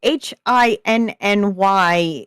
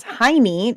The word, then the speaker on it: hinny: And I have been informed that while HINNY here in the United States is Heine, talking about your bum, Here. it's actually pronounced Hinny, and it's old ancient slang for a certain female body part.